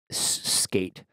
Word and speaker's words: Sk8: Instagram, Twitter, SK8, the number S, the letters SK followed by the number 8, Skate, as in Avril Lavigne, Skater Boy.